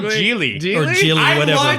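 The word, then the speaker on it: Gigli: It's Geely. Is It's it? not Jiggly.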